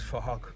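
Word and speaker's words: Phuc: His name is Fahok, but it's spelled with a PH, so it sounds like Fahok.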